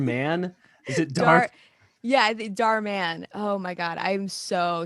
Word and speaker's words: Dhar Mann: Please correct me if I'm pronouncing this wrong. From Dhar Mann. Is it Dhar? Yeah, Dhar Mann.